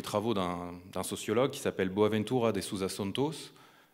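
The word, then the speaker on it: Boaventura de Sousa Santos: d'un sociologue qui s'appelle boaventura da souza santos je le prononce à la française il a expliqué en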